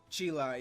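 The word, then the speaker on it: Cheelai: Chila, yeah.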